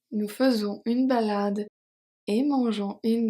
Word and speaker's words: faisons: Faisons, the S is silent, of course.